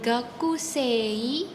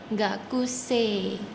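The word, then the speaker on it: 学生: Di Jepang kalau huruf e bertemu huruf I, dia akan menjadi bunyi E panjang. Jadi bukan gakusei tapi gakusi. Gakuse sama seperti kata em bahasa Jepangnya guru yaitu adalah sense. Jadi bukan sensei tapi sense panjang sense. Oke kita lanjut ke mahasiswa.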